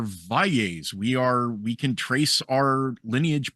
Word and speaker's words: Valles: years or so, because for the longest time my family was Valley. We would pronounce it Valley. We were anglicized Valley. And then it's like, no, we are Valles.